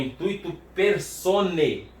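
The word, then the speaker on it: intuitu personae: No latim, esse AE tem som de E. Então é intuito personae.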